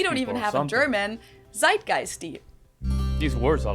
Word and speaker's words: Zeitgeist: some other languages too Americans usually say Zeitgeist in German we pronounce it Zeitgeist and this consists of